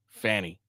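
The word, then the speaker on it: Fani: and that's how they're going to say it Fanny okay people get my name wrong all the time okay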